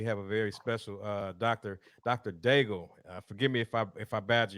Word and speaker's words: Daigle: And you pronounce it correctly. It is Dr. Daigle.